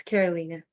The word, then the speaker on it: Carolina: Sorry if I'm mispronouncing your name. Carolina - Co.Lab 27 - Team 1: It's okay. It's Carolina.